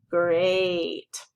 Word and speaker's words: great: Okay, the oddball in this sort is the word great, because it has an EA, but it doesn't make a short E sound or a long E sound. It makes a long A sound. It says A, great.